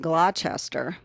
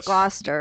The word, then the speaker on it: Gloucester: more like the british well you have gloucester but if you actually looked at that word it'd be like glochester yes gloucester and yeah you know but